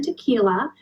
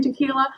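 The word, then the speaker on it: Tekiela: to recommend those books the author is Stan tequila it's spelled t e k i e l a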